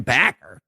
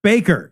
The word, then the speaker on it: Bakker: about Jim backer Baker it's an English word I've heard you say baker that they make